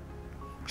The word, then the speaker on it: 新年快乐: Que vous soyez un Coq, un Cochon, ou même un GOAT « Xīnnián kuàilè » 新年快乐 (prononcé sshin-nyen kwhy-luh).